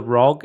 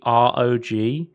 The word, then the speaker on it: ROG: Apparently, a representative from Asus said it's not the ROG, it's the ROG. They specifically said that's not how you pronounce it.